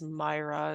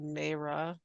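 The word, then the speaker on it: Mayra: i r a but it's pronounced Myra instead of mea Myra wonderful thank you for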